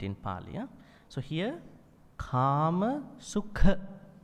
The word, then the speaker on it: Kāmasukha: So here, Kāmasukha, not Sukha, Sukha.